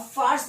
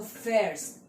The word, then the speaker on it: fährst: अब फार्स मत पढ़ देना, लोग बहुत ज्यादा फार्स पढ़ते हैं, लेकिन यहाँ पर ए उमलाउट, मतलब ए के ऊपर दो डॉट, इसका मतलब ए से, मतलब हम प्रोनाउंसिएशन ए से थोड़ा करते हैं, तो फेयर्स, ठीक है।